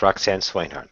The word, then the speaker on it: Roxanne Swainhart: Yes, Roxanne Swainhart.